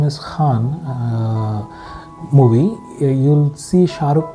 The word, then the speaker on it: Khan: If it comes from, if you use your blade of the tongue instead, it will sound like Khan, not Khan.